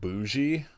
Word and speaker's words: Buzi: And like one of the the wife in the movie, her name is spelled Buzi, but it's pronounced bougie.